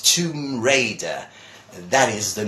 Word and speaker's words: Tomb Raider: there's these words that everyone says tongue but now you there are obviously the Spanish but actually the name of this is tomb it's a tomb you and mother won't think word is Raider not Riley but Raider its Tomb Raider that is the name